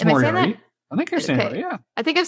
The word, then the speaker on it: Moriarty: I'm terrible with pronunciation, guys. Moriarty. No, I think it's Moriarty.